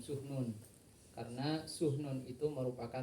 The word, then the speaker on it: Sahnun: harus di perhatikan teman-teman mungkin salah dalam mengucapkan Imam tahun ada yang mengatakan Imam sahnun teman-teman cara pengucapannya yang benar Imam sumun Karena suhu non itu